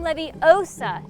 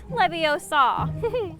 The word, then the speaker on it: Leviosa: wingardium leviosa that's right when guardium leviosa not leviosa all right it's your turn